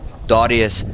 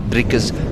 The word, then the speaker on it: Darius: him you also have Darius. Sorry, I pronounced his name wrong the whole time. It is Darius, not Drickus, Darius.